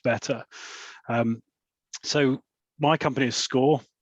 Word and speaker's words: Skore: So my company is Skore, spelt with a K, S-K-O-R-E.